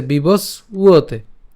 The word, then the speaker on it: বিবস্বতে: আমাদের অন্তস্থ ব, আর অন্তস্থ বয়ের উচ্চারণটা কার মতো হয়? উয়োর মতো হয়। সো উয়োতে, ঠিক আছে, বিবস উয়োতে।